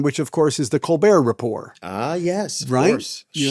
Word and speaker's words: Colbert Report: So So the one of the notable things about Colbert Report, of course, is the silent T at the end of both of those words.